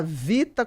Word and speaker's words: Vhita: A gente fala Vita, mas se escreve com H.